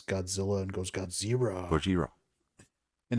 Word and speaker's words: Gojira: And you've got Ken Watanabe, like where he speaks perfectly acceptable English until he has to pronounce Godzilla and goes Godzilla. Gojira.